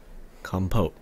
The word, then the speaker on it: compote: Compote. That's how it's pronounced.